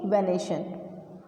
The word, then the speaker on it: venation: अच्छा, यहाँ पर स्पेलिंग मिस्टेक होगी, ये VENATION है, ठीक है। ये क्या है? VENA, ठीक है, वेनेशन।